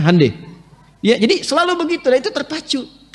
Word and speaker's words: Hyundai: Hyundai itu dibacanya Hyundai.